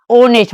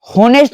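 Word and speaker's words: honest: घंटा यहां देखिए एच ओ एन ई एस ऑनेस्ट मतलब क्या हुआ? ईमानदार। याद रखिएगा जब या इसको क्या पढ़ेंगे हम लोग? होनेस्ट नहीं पढ़ेंगे।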